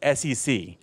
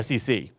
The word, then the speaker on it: SEC: States it's just pronounced SEC okay every and every government agency in the u.s. is pronounced by the letters of the the initials are pronounced as the letters okay so this FBI